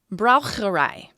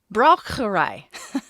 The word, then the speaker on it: Braucherei: It is also known by another term, which I didn't necessarily pronounce incorrectly last time, but I sure American the heck out of it. Okay. Braucherei. It should be correct. Braucherei.